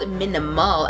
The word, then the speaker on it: Minamul: review, I was actually contacted by this company called Minamul, as in minimal effort. Like, it's spelled differently.